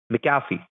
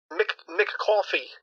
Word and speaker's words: McAfee: How do you say it? McAfee. McCoffee. It was McCafe. It's McCoffee. No, McAfee. McCafe.